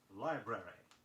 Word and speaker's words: library: Be sure you sound two R's in the word library.